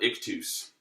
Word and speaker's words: ictus: very relaxed now the next thing is called ik tus and if this wasn't so load low-budget or whatever I would I would spell it to for you on the screen but